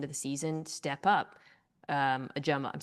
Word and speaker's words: Ojomo: dive into this, because it's been a different pronunciation guide each year of his career. Has it? Yes, it was. Okay. It was He hasn't Ojomo, and then it was Ajuma, and then very recently it's changed to Ojimo.